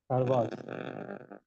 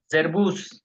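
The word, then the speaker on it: Servus: আলোক মঈন মঈন মঈন সার্বাস সার্বাস না জেরবুস জেরবুস হুম Guten বোটেন Morgan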